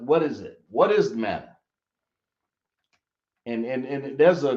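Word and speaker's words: Manna: right tell me what Mana is or Mana thought I right it down but people spell it Mana it's really man that's how it's pronounced okay but anyway I'll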